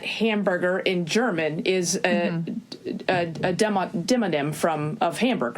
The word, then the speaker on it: demonym: It's spelled like demon-im, like D-E-M-O.